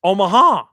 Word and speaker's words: Omaha: by the way uh you didn't pronounce that correctly it's omaha oh thank you very much